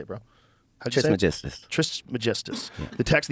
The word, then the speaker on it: Trismegistus: Though attributed to the legendary Hellenistic figure Hermes Trismegistus. How do you say it, bro? Trismegistus.